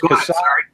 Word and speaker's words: CASAA: And that is CASA. That is CASA. It's spelled CASAA.